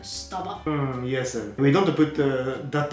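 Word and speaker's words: スタバ: We say staba. So if I say staba is wrong, right? Staba. So you have to be fast to say it, staba.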